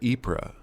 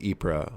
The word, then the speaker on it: Ypres: The Wipers' Times was named after Ypres. Tommy's slang pronunciation of Ypres was Wipers.